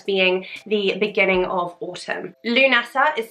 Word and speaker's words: Lughnasadh: forward so today though we are focusing on lunasa or llamas it's also known as the first harvest festival and it's often thought of as being the beginning of autumn lunasa is spelt in several different ways there is